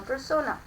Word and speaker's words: persona: On the other hand, her beautiful voice adds a crunch on her persona. Persona में are silent है, देखिए फिर ई ए में change होगा।